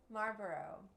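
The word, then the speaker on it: Marlboro: like a maros mar Maro Mar how do you say that Maro Mar see it's not easy Maro is the El silent I think so Maro Maro Marboro the L scient silent anyway they they don't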